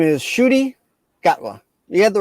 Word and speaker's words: Ncuti Gatwa: Ncuti Gatwa. So his name is Ncuti Gatwa. You had the right last name. That's how you pronounce that, Ncuti? Ncuti, yep. The N is silent, and it's like a.